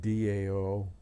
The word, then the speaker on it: Tao: talking about da Tao Dao is how it's pronounced but it's actually spelled Tao TA or da um so I like